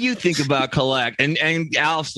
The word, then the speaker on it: Alf: And for some reason, Emmitt Smith was unable to say Alf's name, which is Alf, but he could only pronounce it Af.